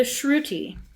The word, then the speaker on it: shruti: The shruty. The Dwight K. Shrewy. Yeah. It's spelled sh H R U T I.